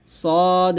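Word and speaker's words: ص: করি বিসমিল্লাহির রাহমানির রাহিম সদ মিম পেশ সুম এখানে সদ এটা সদ আমরা অনেকেই আছি সদের উচ্চারণ চিনের মত করে ফেলি এটা করা যাবে না সদ মিম পেশ সুম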